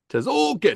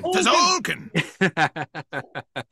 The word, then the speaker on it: Tzolk'in: The way you pronounced it at first, isn't that from Street Fighter 2? Tzolk'in. Tzolk'in.